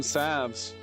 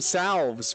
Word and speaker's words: salve: I was calling them salves, but apparently this game pronounced them salve.